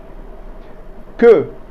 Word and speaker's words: queue: Now how do we spell it in French? N, E, Z. Good. Queue means tail.